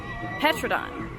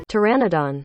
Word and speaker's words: Pteranodon: paradon hair cut p-t-e-r-a-n-o-d-o-n petrodon I'm gonna google that Pteranodon okay I Googled it and I was butchering it Pteranodon the p is silent that makes so much